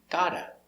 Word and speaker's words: gotta: Got to, pronunciation, gotta. She's gotta clean the house. And I cannot say she gotta, I need the z.